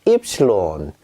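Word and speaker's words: Ypsilon: 네, 여러분 이번에 배우실 발음은 입실론입니다. 입실론.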